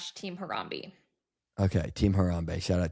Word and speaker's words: Harambe: No, it's not Harambe. It's Harambe.